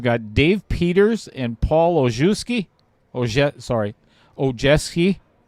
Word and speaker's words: Ojeski: We've got Dave Peters and Paul Ojeski. Ojeski. He always tells me to pronounce it like Ojetski.